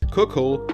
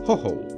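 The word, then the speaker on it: Khokhol: I pronounce his name like this: Cockhole, Warden and Bashkir. Cockhole? Cockhole? His name is actually supposed to be pronounced like this, Hoho, and is apparently Russian slang to talk about a Ukrainian.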